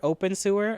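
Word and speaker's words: Abensur: It's pronounced sewer, open sewer. Oh, open sewer.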